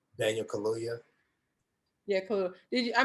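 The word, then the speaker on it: Kaluuya: with daniel i can't remember how do you pronounce his last name daniel kaluya yeah cool did you i mean i know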